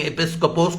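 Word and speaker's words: ἐπίσκοπος: एपिस्कोपोस, EPI, board होता तो मैं ब्लैक बोर्ड पे लिखता, EPI, COPOS, इसका उच्चारण है एपिस्कोपोस।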